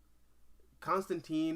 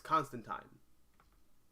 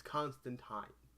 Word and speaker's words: Constantine: worst way possible i constantine is the way we pronounce like the historic religious figure's name but it's constant time it's constant time you know rhymes with line you can say that